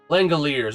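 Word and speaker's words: Langeliers: How to pronounce lang. There we go. Langalers.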